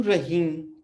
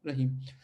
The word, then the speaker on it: Rahim: उ तेलेमोवेल दु रहीम, ओके, और खहीम.